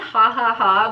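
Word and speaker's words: jajaja: brown this one is called hahaha but it's spelled j-a-j-a-j-a are you kidding me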